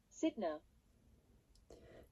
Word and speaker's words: Sytner: station wagon or 1 touring, converted by can't pronounce this word. Converted by Sidner.